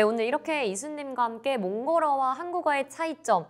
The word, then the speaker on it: 몽골: 하나가 빠진 느낌이 들어서 꼭 몽골에 리을 잊지 마시고 붙여 주시는게 참 좋아요. 꼭 몽골을 몽골이라고 100% 모든 발음을 넣어서 불러 주시면 너무너무 감사할 것 같습니다. 네. 몽골. 저희가 기억하겠습니다. 몽골.